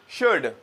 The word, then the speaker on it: should: ये modal verb शुड बहुत सारे लोग इसको शुल्ड कहते हैं ऐसा नहीं है एल जो है इसमें ये थोड़ा साइलेंट है तो हमें प्रोनाउंस करना चाहिए और प्रोनाउंस होता है जनरली भी शुड ओके तो लेक्चर का